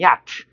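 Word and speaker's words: yacht: 요트라 그러지? 우리말로 발음은 야트.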